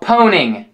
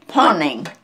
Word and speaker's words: pwning: another one today okay it's uh it's called poning Pony poning spell it for me p o w n i n g poning poning yeah p and it means like uh